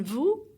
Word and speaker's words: vous: Vous, so the S is silent.